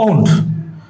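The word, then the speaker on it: won't: আপনারা অবশ্যই লক্ষ্য করবেন টি যখন কোনো একটা ভার্বের সাথে আসে, দ্যাট মিন্স ওন্ট যখন ভার্বের সাথে আসবে তখন এই টি অক্ষরটা কিক আউট হয়ে যায়, মানে এটা সাইলেন্ট হয়ে যাবে। দ্যাট মিন্স এটার উচ্চারণটা হবে আই ওন ইট।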